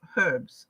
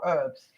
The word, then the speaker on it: herbs: it the king of herbs or herbs um it's very difficult i i was brought up in england where you actually pronounce the h so this is called the king of herbs and the reason for